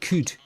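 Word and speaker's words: Qud: know what that is what's caves of could could is how you pronounce it Rog like Epic in retro futurism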